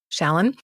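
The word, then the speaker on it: Shalan: And hopefully I'll pronounce her name correctly, but it's narrated by Gail Shallen. Yes. Shallen?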